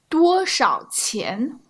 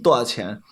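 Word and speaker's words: 多少钱: I don't really say the sh. Do you think that's okay? It's okay. Yeah. Like people in Northern do that a lot. Yeah. 多少钱多少钱多少钱 So you never hear the sh, and that's just a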